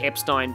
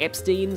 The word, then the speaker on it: Epstein: I believe it's pronounced Epstein because that's how it's said in the... That's how the Japanese katakana are.